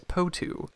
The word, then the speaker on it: potoo: up front and say we're not sure how to pronounce this animal's name we've heard patu putu potu and even patu however webster's lists the phonetic spelling as po2 so that's what we're going with let us know in